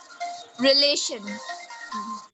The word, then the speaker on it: relation: So, re will be unstressed, lay will be stressed, and shan will be unstressed.